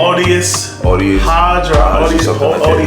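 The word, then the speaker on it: Aldis Hodge: Audius Hodge.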